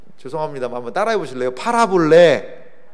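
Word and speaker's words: παραβολή: 파라볼레. 뭘 좀 팔을까요? 좀 많이 팔아볼래. 이것도 팔아보고 저것도 팔아보고 그런 의미가 아니고 발음은 유사한데 이제 파라볼레라는 뜻이 있어요.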